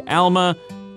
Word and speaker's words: Alma: The city is spelled A-L-M-A, that would be Alma, but I've been told and heard that it's pronounced more like Alma.